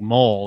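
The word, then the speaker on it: Moel: But it's not spelled like Mole. It's spelled like Joel, but with an M.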